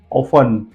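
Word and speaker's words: often: T silent जाता है check कीजिए ऑफ ओ एफ ई एन टी के बाद ई एन का सेंस है that is व्हाई T silent है ओ ऑफ्टन नहीं बोलते पढ़ने वाले कि कोई कोई इसको ऑफ्टन भी बोलते हैं पढ़ना नहीं आता इसलिए लेकिन टी के बाद न है ऑफ पढ़िए उसके बाद है लिसन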